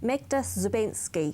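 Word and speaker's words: Magda Szubanski: Yeah, and there was an article written about, I always make sure I pronounce this correctly, Magda Zubensky.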